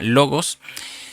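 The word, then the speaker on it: λόγος: la concordancia Strong 3056, que se pronuncia logos.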